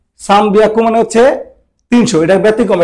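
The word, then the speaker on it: 三百: তাহলে আবার 300 লিখতে গেলে 300, 300, 300 এর ক্ষেত্রে ওরা একটা ব্যতিক্রম রাখছে, 303 বলে সান। আর হিয়াকু জানে, হিয়াকু, হিয়াকুই লিখলেন, হিয়াকু একটু 3 দিয়ে দিচ্ছে, বিয়াকু হয়ে গেছে, সান বিয়াকু। সান বিয়াকু মানে হচ্ছে 300, এটা ব্যতিক্রম, এটা মনে রাখবেন।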